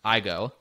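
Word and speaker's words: aigo: ai go dot io i think otherwise pronounced i go very clever stuff there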